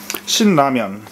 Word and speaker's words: Shin Ramen: It's Shin cup noodle soup, it says, but in Korean it's called Shin Ramen. Shin Ramen, that's how they say it.